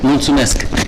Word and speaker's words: Mulțumesc: Mulțumesc. Mulțumesc.